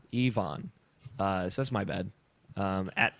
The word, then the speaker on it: Ivan: Ivan Lekovich, who I previously pronounced it as Ivan, I believe it is Ivan. He specified in chat that you pronounce it E-V-O-N, like E-V-O-N. Ivan.